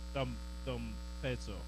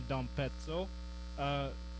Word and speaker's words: d'Ampezzo: D'Ampezzo. I looked up the pronunciation and now I forgot it. You do have to do the D'Ampezzo. It's like pizza.